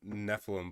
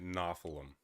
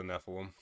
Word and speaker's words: Nephilim: So, the the these warlocks are part Nephilim, but he's pronouncing it nylum.